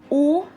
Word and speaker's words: å: much the same or has two different ways to be pronounced depending on length so the long one and a short one this is oh and this is oh I do not have